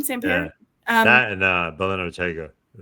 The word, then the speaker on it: Sampere: I think you say his name, Sampere.